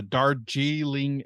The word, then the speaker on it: Darjeeling: And then I watched a Wes Anderson movie I had never seen before called The Darjeeling Express. I think that's how you pronounce it. Yeah, Um, like Darjeeling tea.